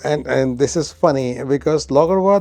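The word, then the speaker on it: Laugarvatn: Logarwa, and this is funny because Logarwa, the way it is pronounced and the way it is spelled is different. So we were calling it Logarwatan because that's how it is spelled. But later on, we found out that it's called Logarwa.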